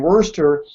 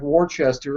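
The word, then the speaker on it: Worcester: or whatever but it looks like it would pronounce ler to me you know and and Worster I always try to add a add an extra syllable so it's like Worchester or something but uh but uh anyway he's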